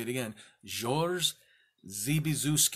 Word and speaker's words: Zby: twice you'll get it the letter Z followed by B Y pronounced ZB why do they name